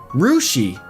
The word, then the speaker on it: Russia: And they also have Russia, Ohio, pronounced like Rushi.